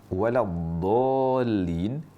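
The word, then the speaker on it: ولا الضالين: Misalnya saat mengucapkan waladolin, sebagian mengucapkannya waladin. Ini jelas huruf dal tapi dibaca tafkhim. Dan dal yang dibaca tafkhim atau tebal itu enggak ada dalam bahasa Arab. yang ada dal selalu tarqiq. Maka mengucapkan waladin itu kesalahan yang sangat fatal.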